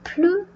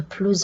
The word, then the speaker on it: plus: Donc, avec la locution sans plus, on ne prononce pas le S.